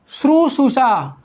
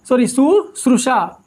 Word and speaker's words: शुश्रूषा: Next आता है आपका श्रुशुषा। शुश्रूषा, इसके उच्चारण में मोस्टली गलती होती है, मुझसे भी हो जाती है। शुश्रूषा ये जो सही रूप है इसका, यानी जो शुद्ध रूप है वो शुश्रूषा।